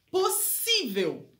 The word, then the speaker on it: possível: Por que possível é acentuado? É uma paroxítona, porque a sílaba tônica tá no si, né? Então, vamos separar a sílaba, ó. Pos, que a gente põe um S junto, né? Possível. Possível. Então, a sílaba tônica é o si.